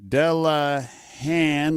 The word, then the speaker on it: Delehanty: was discussion on Walmart American pronunciation dello hand like hand without the DT delehanty got you I'll say